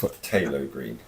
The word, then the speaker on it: phthalo green: Just phthalo green? Yes. Okay. Silent P.